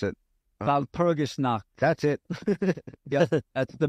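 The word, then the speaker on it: Walpurgisnacht: Wasn't that like Valpurgisnacht? I can't pronounce it. Valpurgisnacht.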